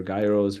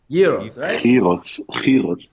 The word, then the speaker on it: gyros: the the Euros or Gyros or whatever you call them hey yellow how how do you call them I'm curious Heroes that's that's a proper way to say it but everybody here says gyro I know it's okay